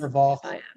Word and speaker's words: Vanderwalk: Um I'll go next to uh Low Vanderwalk. I'm I'm sorry if I'm pronouncing your name incorrectly. Correct me, please. Vanderwalk. Yeah. Yes, uh yes, Low Vanderwalk. You did pronounce it correctly.